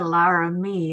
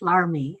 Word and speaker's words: Larmy: and I should add, Director Larmy is not Director Laramie, it's Larmy. Larmie is how we pronounce it.